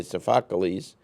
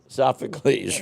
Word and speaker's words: Sophocles: which we're talking about was first created by sakes sakes did I say it right sopes Sophocles right close yeah right that's right right keep